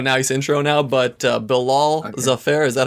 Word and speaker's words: Bilal Zafar: do have a nice intro now but uh bill all the fair is that how you say your name yeah